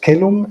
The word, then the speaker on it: caelum: But Migne prints the accent at the final syllable because he's a Frenchman. Yeah. And he would, of course, pronounce it kelum, right?